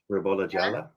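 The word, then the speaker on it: Ribolla Gialla: Is that Am I pronouncing that right? Jala. Rabola Jala.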